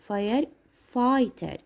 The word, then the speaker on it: firefighter: We will pronounce the 3 letters here I, firefighter.